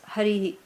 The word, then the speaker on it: Hari: and destroys aarm is Hari so that's why you say Hari om okay very nice otherwise colloquially it is only hurry no that's what you